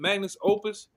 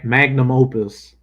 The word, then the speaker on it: magnum opus: Oh, how you say it? Magnus Opus. Yeah, magnum opus.